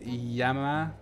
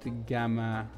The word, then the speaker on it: Gamma: Gamma is pronounced Yama, not GMA. Really? Gamma is Yama. That's the first time I've heard that.